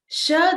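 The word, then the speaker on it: श: Sha, the pronunciation is a little bit tricky. It's pronounced with the talu, just like cha, cha, ja, jha, nya. So those are all produced with the palate.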